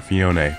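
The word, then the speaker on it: Phione: But you cannot use Mew, Celebi, Jirachi, Deoxys, Fioni, any of these Pokemon here, or Fione, to say the correct pronunciation, whatever.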